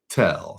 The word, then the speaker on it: Viettel: Viettel. So Viet, like Vietnam, VIET I'll put it in the TEL.